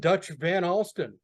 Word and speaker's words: Van Alstin: Sitting here with my friend Dutch Van Alstin. You pronounce that name correctly.